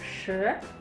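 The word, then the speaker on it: 十: Oke, bedakan ya. 4, 4. 4. Jadi suaranya kayak runcing gitu, teman-teman. 4. Kalau 10, 10. 10. Lidahnya ditekuk ke belakang.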